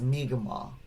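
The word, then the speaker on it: Mi'kmaq: nation as well but the most common pronunciation that i've heard is miguel all right so uh again there might be regional variation there too so mega maw elder albert marshall is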